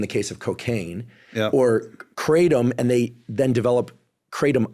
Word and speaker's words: kratom: I think the proper pronunciation is kratom.